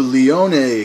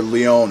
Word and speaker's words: Leone: okay moving on to the Leone contest gloves or Leon however you'd like to pronounce it I'm pretty sure it's Leon though these are really good